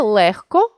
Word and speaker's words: легко: чітко не оглушуємо їх але є 5 слів в українській мові у яких відбувається уподібнення за глухістю це легко вогко кігті нігті дьогтю у цих словах